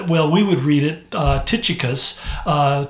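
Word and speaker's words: Tychicus: His name is, well, we would read it, Tukikos. Tukikos is really the way you pronounce it.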